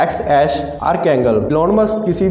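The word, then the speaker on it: X Æ A-12: Elon Musk इसको pronounce करते हैं XAsh आर्कैंगल।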